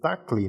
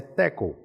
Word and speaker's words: tackle: A gente fala assim, tackle, essa palavrinha em inglês ali que parece que tá escrito assim, tacle, né? Mas a pronúncia é tackle.